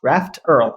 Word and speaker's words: raft_erl: prototype it in earling hence raft Earl that's how I pronounce it okay great I know